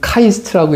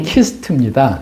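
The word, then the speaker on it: KIST: 뭐 카이스트의 연구원 창업 기업으로 기업으로 특허상 기술상 등등도 받으시 아, 이제 많은 분들이 이제 그 카이스트라고 읽어요. 근데 이제 키스트입니다.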